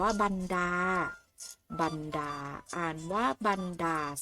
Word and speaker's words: บรรดา: คำ ต่อ ไป ค่ะ คำ นี้ อ่าน ว่า บรรดา บรรดา นะ คะ สะกด ว่า บอ ไม่ อากาศ หน่อ บัน อา ดา อ่าน ว่า บรรดา 5 เห็น ไหม คะ